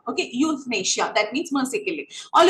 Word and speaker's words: euthanasia: It's pronounced as euthanasia. Okay, euthanasia.